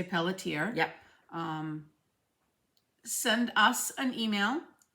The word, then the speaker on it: Pelletier: we did Carol Pelletier we say Pelletier up here some people pronounce it Peltier okay p-e-l-l-e-t-i-e-r and she